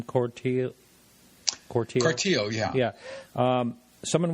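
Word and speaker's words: Cortile: Cortio.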